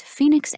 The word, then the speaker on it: Phoenix: to improve you typed the guest's address as Phoenix Arizona it's spelled p-h-o-e-n-i-x not p-h-e-o-n-i-x well it should be